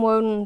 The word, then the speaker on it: Woden: These books are the Woden books, and I call them Woden. They may be pronounced wooden. They're spelled like wooden.